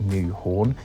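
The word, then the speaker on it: Nyhavn: Now if you look at the spelling, I know it looks like Nyhaven, but it's actually pronounced something like New Horn.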